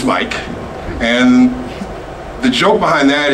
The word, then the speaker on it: Mic: My name is Mike. Most people say Mick because it's spelled M-I-C. It's Mike.